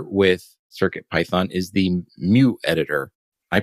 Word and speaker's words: Mu: circuit python is the mu editor i pronounce it mu sort of like the greek letter yeah mu i don't